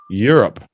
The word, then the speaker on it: Europe: Europe. Just 2 syllables. Europe.